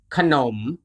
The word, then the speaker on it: ขนม: If the leading consonant appears in the second syllable, the first syllable is always pronounced with the vowel a, and it is hidden. For example, ข น ม ข น ม ข